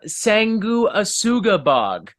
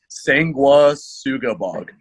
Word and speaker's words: Sanguisugabogg: for you it's Devin Swank lead singer from sengu asugabag or however how is the name actually pronounced if I did I get that right nah you butchered it but it's uh cool yeah sengua Suga bog sangua sugabag okay I'm not yeah I definitely